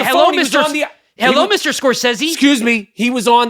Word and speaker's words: Scorsese: Jesus Christ, you haven't even pronounced Scorsese's name right. Lorraine Bracco, and it's Scorsese, motherfucker.